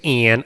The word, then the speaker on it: Ayn: You can't even pronounce their name. It's Ann. I like to call her Ann.